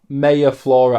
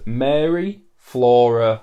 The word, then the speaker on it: Mary Flora: artist's name you did it's not mayor Flora art her name is Mary Flora har that's her Instagram handle